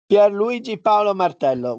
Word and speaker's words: Luigi Paolo Martello: there it's a pleasure luigi paolo martello one that maybe i pronounced not too badly yes yes the pronunciation is perfect professor good afternoon and my